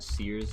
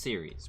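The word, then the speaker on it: Ceres: You know, just have a really bad Sears so that I don't. Or Series. It's pronounced Series, but I just like saying Sears.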